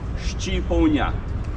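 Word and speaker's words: shqiponjë: word for Eagle in our language Eagle is pronounced shipon the country is called Shia country of the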